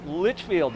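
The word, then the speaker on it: Lichfield: Hello, Litchfield. Am I saying it correctly? Yeah, absolutely. Okay. Don't want to mispronounce it. Like Worcester, right? Yeah. It's not Worcester.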